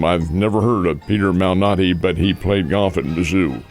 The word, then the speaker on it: Malnati: Let's see he pronounces it Malnati.